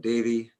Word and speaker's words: Davie: So it's as in Coltrane, C-O-A-L, and Davie as in Davie Street here in Vancouver, D-A-V-I-E.